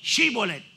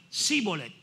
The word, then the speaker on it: Shibolet: ahí entonces los de galal decían pues di shibolet y ellos decían cholet porque la No la pronunciaban verdad y como no pronunciaban la se